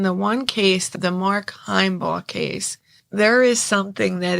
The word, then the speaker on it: Himebaugh: I keep saying Heimbaugh, but it's pronounced Heimbaugh case, because, there's a special place in hell anybody who could do this to a child.